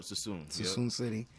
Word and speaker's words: Suisun City: That's going to be in Suisun City. Yeah. Did I say it right? Yep, Suisun City.